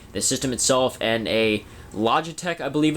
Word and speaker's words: Logitech: It was just the power cord, the system itself, and a Logitech, I believe it's pronounced, third-party controller with a copy of Gran Turismo 5.